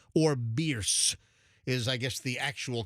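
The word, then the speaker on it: Bearss: Genesis of Tampa's right at 275 and bears or beers is I guess the actual correct pronunciation according to the Beers family who lectured Fester some years ago. I used to call it bear ass on my traffic reports and they got really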